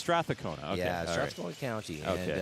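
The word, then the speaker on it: Strathcona: too that help so is that how to pronounce straa cona stona count I've been mispronouncing I've been I've just been saying Strath cona okay so it's stona okay yeah stona County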